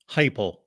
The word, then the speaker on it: Heupel: Heupel. Heupel. Okay, I knew I was pronouncing it wrong.